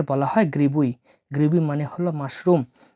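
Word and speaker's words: грибы: তো জি আর আই বি ওয়াই এই বি আইটা উচ্চারণ হয় ওয়াই হিসেবে তাহলে গ্রিবুই গ্রিবুই গ্রিবুই মানে হল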